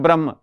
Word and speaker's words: ब्रह्मो: वो जो हिंदू लोग नॉर्मली कहते हैं ना ब्रह्म, तो वही सुप्रीम बीइंग से प्रोनाउंसिएशन है ब्रह्मो, और यही उपनिषद का थॉट है.